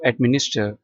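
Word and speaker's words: administer: टू एडमिनिस्टर इसमें भी are silent है।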